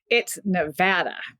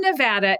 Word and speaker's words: Nevada: about linguistic tolerance but is there a preferred way to do it yes and Nevada is that way if you're from Nevada you know you say Nevada okay so let me